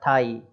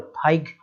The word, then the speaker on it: thigh: और THIGH, है ना, थाई इतना ही बोलना है, GH साइलेंट हो, थाइग इस तरीके से नहीं पढ़ना है उसको।